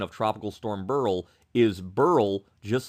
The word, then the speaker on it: Beryl: always pronounce the name Burl like Milton Burl and I've heard people with this name who pronounce it Burl but many many people and this pronunciation guide say it should be pronounced as Barrel so I look at